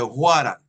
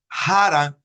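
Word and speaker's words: Hwarang: Twege y de Huaran, que unos dicen Haran, otros dicen Waran, y no es ninguna ni la otra, tiene H y W. Y recuerde que está escrito en inglés. Y como está escrito en inglés, pues tenemos que pronunciar la H como si fuera una J en castellano.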